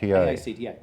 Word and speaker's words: AACTA: AACTA, pronounced ACTA.